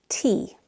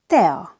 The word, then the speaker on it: tea: Number 4, tea. In Hungarian, tea. Tea. We have to pronounce E and A separately, not together like in English.